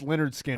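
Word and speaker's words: Lynyrd Skynyrd: to name Leonard skinnard pronounced Leonard skinnard I know that's better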